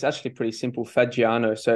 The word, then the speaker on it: Fagiano: name uh so it's it's actually pretty simple fagiano so it's an Italian bird so a lot